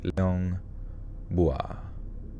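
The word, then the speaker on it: Liang Bua: le as in C and Leong without a pronounce Leong bua bua Leon Leon bua back in 2003 a team comprised of local and Australian archaeologists began Excavating an Indonesian cave known as Leong bua in the hopes of uncovering premodern human remains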